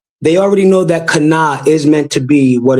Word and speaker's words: Canaan: And it says, we pronounce the first syllable in Canaan, ka, right? With the first syllable of the word Canaan, that K. But it says, yet the Jews did not so, but the Shiva joins the letter C and N into one syllable, making it Canaan, right?